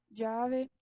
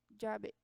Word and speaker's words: llave: Bem, as palavras aqui chamada fica llamada, chuva fica lluvia, chave fica llave. Opa, é llave.